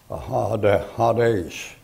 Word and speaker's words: Hades: And as that's a long A in there, Hades, like that.